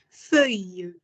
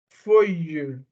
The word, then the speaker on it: feuille: Feuille. Feuille. Les feuilles. Le feuille. Good. That's it. So like double L is pronounced as je. Yes, you. It's the same thing like girl, fille.